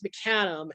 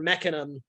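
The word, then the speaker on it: mecanum: why you go with mechanim is if you want or mechanum i've heard i've heard it pronounced both ways tomato tomato it goes both ways yep so it is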